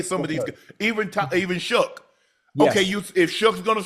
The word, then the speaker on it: Shough: Tyler, how do you pronounce his last name? Shough.